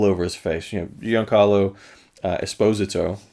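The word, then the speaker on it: Giancarlo Esposito: his face you know young carlo esposito that's how you're supposed to say his name actually is um fantastic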